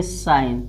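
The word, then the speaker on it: sign: हो जाएगा, यानी डिजाइन, यानी इसको जी को साइलेंट रखना है। इसी तरह देखिए साइन, यस आई एन, यानी इसको क्या पढ़ना है,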